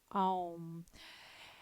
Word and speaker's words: Om: This one is Om, that universal sound that carries itself through the universe. And it is pronounced A-U-M, Om.